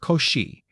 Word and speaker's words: Cauchy: The fix took until 1821 and it came from a French mathematician named August Louie Koshi. His name is pronounced Koshi.